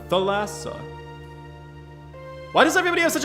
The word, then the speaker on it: Thalassa: that's probably offensive the lasso is a greek name oh look at me being uncultured as hell spelt with theta so the th sound so it's the lasso not thalassa the lasso am i saying it